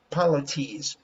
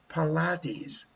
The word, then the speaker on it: Pilates: The same as polities. Polities. How do you pronounce that? Polities. Pilates. Pilates. That's right. Pilates.